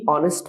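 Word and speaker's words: honest: কারণ কি, এটা এইচ, এটা হচ্ছে কনসোনেন্ট, বাট উচ্চারণটা কিন্তু এইচ উচ্চারিত হয়নি, সাইলেন্ট রয়েছে, উচ্চারিত হয়েছে ও, অর্থাৎ হচ্ছে একটা ভাওয়েল সাউন্ড উচ্চারিত হয়েছে।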